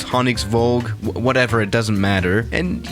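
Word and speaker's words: Honningsvåg: I think that little A with a circle above it is actually pronounced with an O, so it's Honningsvag, whatever, it doesn't matter.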